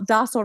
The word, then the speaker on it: Dostal: U I'm still like feeling the belly laugh inside of pronouncing my name and the whole docsel rhymes with nostril.